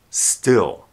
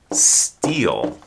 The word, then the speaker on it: still: when something is still the I sound in still is a short I still it has the same sound as it or sit or strip sometimes students will pronounce the word steel whether you sp it